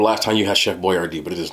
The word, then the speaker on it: Boyardee: My man Chef Boyardee literally changed his name because he didn't think people were going to pronounce it right. So he made it phonetic. His last name was really Boyardee, but he changed it to Boyardee and put it phonetically, and then put a